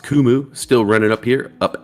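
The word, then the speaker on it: Qumu: run there Pi symbol Q muu I believe the company's pronounced kumu still running up here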